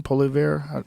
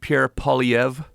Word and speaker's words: Poilievre: Polivier? Yeah, well, it's French, so it's well, I don't think he's French, but the name's French. Pierre Poilievre. With sort of a weird R, silent R.